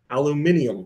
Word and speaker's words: aluminium: Aluminium. No, aluminum. Yes, I know. Aluminum is the correct way to say it. It's aluminium. Aluminium foil.